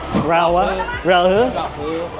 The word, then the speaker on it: Raohe: Raohe? Raohe.